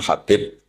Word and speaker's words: Habib: Ada yang nulis Abi Abdurrahman Habib Asulami. Itu di harakatnya kitab itu ada yang nulis khubab. L yang benar. Oh nggih. Yang benar itu bacanya habib.